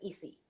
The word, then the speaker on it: Esi: different you will say easy no you will pronounce it easy Focus traditionally is easy because it The Sound